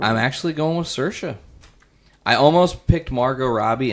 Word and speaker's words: Saoirse: Before the podcast, Nate asked AP how he would pronounce that girl's name. Saoirse. Saoirse? Is that what you said? I said Saoirse.